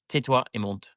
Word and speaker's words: tais-toi et monte: But actually, a very nice lady actually messaged me on Instagram saying, this is how you say it. There are a few ways, but I'm going to say, tais-toi et monte.